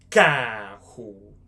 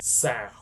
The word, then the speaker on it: carro: Car in Brazilian Portuguese, carro.